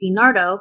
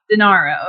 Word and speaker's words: Denaro: Recently, like as I said, notorious mob boss on January 16th, Matteo Messina Denaro, not to be confused with Dinardo, who I will be tying back to my hometown in a hot second.